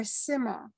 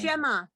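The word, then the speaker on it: שמע: Shema or Sima No, where's the dot? on the right? Right? And So it's remember, shin. Okay. Okay. Shema.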